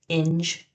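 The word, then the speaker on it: Ynge: He's also in the band called In 2 and it rhymes with the word cringe. On 30 you have BK which is Bill and he plays in the band called Inge 2.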